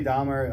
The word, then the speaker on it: Dormer: But Natalie Dormer also is such a fox. It's Jeffrey Dahmer? Yes. Dormer. Okay, sorry. Dormer. You said Dahmer.